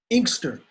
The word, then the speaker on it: Inkster: How do you pronounce it again? Inkster.